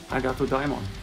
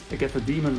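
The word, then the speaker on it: Agathodaimon: And yes, Agato Daimon. It's not Agatha Demon or anything like that. It's a name from ancient Greece, Greek mythology.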